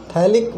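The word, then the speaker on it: phthalic: Molecule of थैलिक acid थैलिक बेटा P silent रहता है यहाँ पे, है ना, थैलिक acid and इथिन glycol इथिन glycol.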